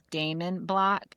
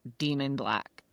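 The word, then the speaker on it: Daemon Black: The character's name is Damon Black, and they pronounced it in the audio Demon Black for 4 books, 4 whole books.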